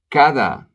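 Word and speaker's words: cada: country P bar cheap kada every or each the D is a real D kada no Papa dad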